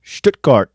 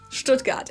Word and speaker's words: Stuttgart: Stuttgart. As T becomes Stuttgart. And the U sound is short, so Stuttgart.